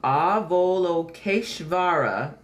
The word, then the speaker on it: Avalokiteshvara: All right, so it's pronounced Avalokiteshvara, is an Eastern deity who watches over the world and hears all prayers.